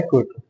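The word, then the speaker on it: Quito: क्विटो और Kyoto में confusion नहीं होना है। क्योटो जापान में है, यहाँ क्योटो प्रोटोकॉल हुआ था। क्विटो क्या है? इक्वाडोर की कैपिटल है। नेम सेम सेम है पर प्रोनाउंसिएशन अलग अलग है।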